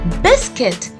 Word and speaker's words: biscuit: it has biscuit now we might call it a biscuit or sometimes a biscuit but no the chronic pronunciation to this is biscuit say it once more biscuit